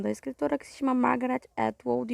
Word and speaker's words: Margaret Atwood: Bom, eu errei a pronúncia do nome da escritora, que se chama Margaret Atwood, e o livro foi escrito em 1985.